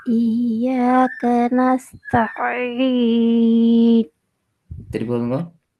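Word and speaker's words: نستعين: வ இய்யாக நஸ்தஈன். திருப்பி போதுங்க. வ இய்யாக நஸ்தஈன். நஸ்தஈன். அதை பிரிக்க கூடாது. அதான் பிழை. ஆயின் உச்சரிக்கிறே சரி. நஸ்தஈன். ரெண்டு சேரணும்.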